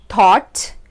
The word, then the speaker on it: thought: So the first pronunciation of this combination is aw, and for this pronunciation we have words like thought, bought, right? So here you can hear the pronunciation in these words of the OUGH combination, which sounds like aw.